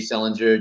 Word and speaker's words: Selinger: It's Dave Selinger, just like Yes. JD Salinger, Catcher in the Rye.